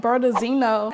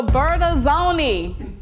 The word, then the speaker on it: Bertazzoni: And you have your stainless steels, the core, and Bertazzino. And Bertazzino. I'm saying it wrong. The Bertazzoni. The Bertazzoni. I got it.